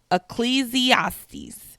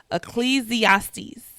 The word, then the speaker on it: Ecclesiastes: Ecclesiastes is how you say it. Ecclesiastes.